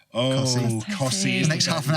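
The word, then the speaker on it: Costessey: I think Cossey may be my favourite because it is spelled Costessi and somebody's just gone, I ain't got time to say that. Cossey.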